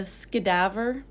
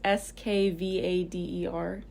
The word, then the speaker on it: Skvader: They have, well, I don't know how to say this one, a skedaver. It's Skvader.